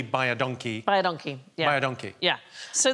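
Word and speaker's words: baie dankie: is you is welcome because it sounds like bod donkey but it's identical to the Africans phrase which means thank you very much so phonetically by aonkey by a donkey by a donkey yeah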